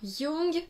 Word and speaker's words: Jung: Alors, Jung, donc J-U-N-G, par rapport à l'écriture de Jung, mais sinon la prononciation c'est effectivement celle-là.